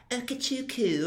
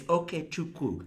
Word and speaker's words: Okechukwu: and panelists will go, Okechukwu, and I'm like, that is not how there's a W there, okay? It's Okechukwu. Say it right.